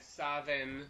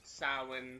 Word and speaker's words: Samhain: It's spelled like Samhain, but it can be said Savin, Samhain, Samhain. Those are the pronunciations of it. But it is not spelt the way it sounds, and it is not said the way it's spelt.